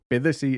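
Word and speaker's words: Bythesea: Bithersea is actually spelled by the sea. Okay. But I looked it up and it's pronounced Bithersea.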